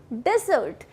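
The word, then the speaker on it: dessert: डिजर्ट, वहाँ पे ज का प्रोनाउंसिएशन नहीं आता, स का आता है.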